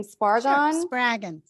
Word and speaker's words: Spraggon: pronounce your last name spargan rhymes with dragon sprague and adele spragon um i everyone i